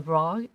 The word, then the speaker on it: Brough: and uh in 1984 uh before um brother bro is how you say it uh he was